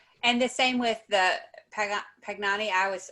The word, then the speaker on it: Pangani: the same with the pugnani i was i feel like i always pronounce it i think it's pangani um but the animals